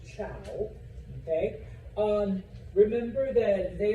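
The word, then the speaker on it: Zhou: Uh and yes, even though it's with a Z, it is pronounced ciao.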